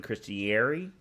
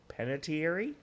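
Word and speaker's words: Panettiere: to it because of Hayden christiner or however you pronounce her last name um that's not how you pronounce her last name but Hayden pentier I know it's Italian uh she was the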